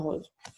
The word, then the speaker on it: rose: Parce qu'ici, vous avez le S qui prononce Z dans Rose.